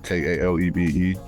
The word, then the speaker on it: Kalebe: It's spelled exactly how it sounds. International, and then Kalebe, Kalebe.